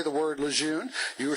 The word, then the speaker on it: Lejeune: It's absolutely incontrovertibly pronounced Lejeune by the General and his family.